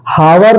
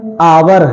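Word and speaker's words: hour: तो वहां पर एच क्या होता है बिल्कुल साइलेंट होता है जैसे नेस्ट नहीं है ऑनेस्ट है हावर नहीं है आवर है हनर नहीं है ऑनर है यर नहीं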